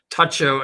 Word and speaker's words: Tucho: Tucho. And you have to pronounce that correctly. It's Tacho just like it's bugini.